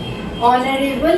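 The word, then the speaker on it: honorable: ऑनरेबल है, एच से start है, लेकिन हमें यहाँ एन का यूज करना है क्योंकि आवाज अ की आती है।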